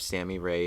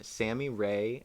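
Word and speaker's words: Sammy Rae: listen to them um sammy ray and the friends so that's s-a-m-m-y sammy ray and the friends and then rey is spelled r-a-e and then it's just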